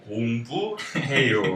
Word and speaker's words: 공부해요: So 해요 is kind of like in English, maybe hey, like hey, yo, right? We have Yo. both these words in English, so it's pretty easy. The pronunciation shouldn't be that hard, and 공, like G-O-N-G, 부, like the ghost says bu, and heyo, 공부해요, right?